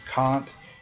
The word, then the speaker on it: Kant: In English, we always use the German pronunciation of his name. He's never pronounced Emanuel Kant. So, please don't make that mistake because anyone who has a college education should know this guy's name is Kant if you're discussing him.